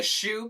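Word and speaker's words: choux: we're gonna make the shoe paste yep we're making shoes pasted yep to start with some adidas just kidding it's spelled c-h-o-u-x again more french probably also means crusty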